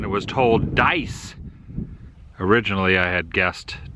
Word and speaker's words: Dyess: back at the Welcome Center I asked the pronunciation it was told dice originally I had guessed daya's but dice is what they stated here's the water tower